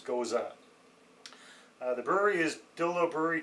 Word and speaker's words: Gose: the beer saltwater sour the style of beer is a Goza you also only hear pronounced goes a but I'm pretty sure the proper pronunciation is goes up the brewery is dildo